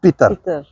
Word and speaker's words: Pieter: And it was not Peter, it was Pieter.